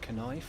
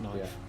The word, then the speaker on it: knife: what the world is those crazy words with the silent letters yeah it's like kife what's a kife no it's just knife that's not a knife